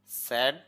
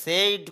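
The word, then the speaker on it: said: ঠক কথা বলা স্যা স্যাড স্যাড বলা স্যা স্যাড স্যাড বলা স্যা স্যাড স্যাড অনেকে এটা সেইড বলে আই দেখে এখানে এখানে সেইড হবে না সেড হবে সেড স্যাড বলা ঠেল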